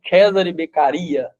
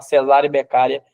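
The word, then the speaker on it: Cesare Beccaria: ó aí eu até coloquei a pronúncia aqui viu Cesare becaria para você não dar ONB I falar cesárea becara Igual eu falei minha vida inteira o Carara aí Alguns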